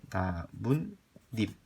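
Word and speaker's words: 나뭇잎: 그럼 발음하니까 어떻게 돼요? 나문 잎. 니은 첨가됐죠?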